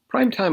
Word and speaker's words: prime time: on to prime time primetime originally referred to television but it has a broader meaning now this is a noun and the stress is on the first word prime time prime time the time at which